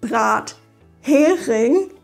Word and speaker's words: Brathering: Wenn man die Wörter richtig trennt, mithin und Brathering, dann ist es viel wahrscheinlicher, dass man das Wort beim ersten Mal versteht.